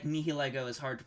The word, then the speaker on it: Nihilego: completely fair um so the fact that like nihiligo is hard to pronounce uh the the squid one the squid one that lusamine gets like mind controlled by is from pronounced nihilego i don't remember any of the uh context